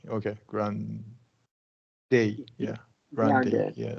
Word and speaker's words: Grande: Ariana Ariana okay but this is Spanish word so we're we're gonna say Grande Long a grande okay Grand yeah Grande yeah like a f